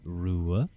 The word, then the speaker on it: Ruadh: So I know how to say Rua, but could you go with the rest of your name to see if you could be mentally pronouncing it right? Of course, it's Rua, Ua.